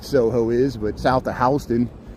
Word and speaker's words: Houston: I mean, people in New York know what Soho is, but south of Houston, it's not Houston Street, it's Houston.